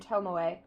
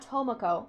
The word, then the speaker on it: Tomoe: However, some doubts remain about the outpatients Marie and Tomoe. Oh, it's Tomoe, not Tomoko.